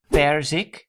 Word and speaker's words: perzik: And the final one, the Dutch word for peach is perzik. So the emphasis is on per and not the final syllable zik.